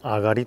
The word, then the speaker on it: 東: いきましょうこれね東と書いてあがりと言いますね行きましょうまあ